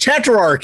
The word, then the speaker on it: Tetrarch: they're like have you heard of tetrarch it's pronounced tetrarch you know exactly exactly but they're super stoked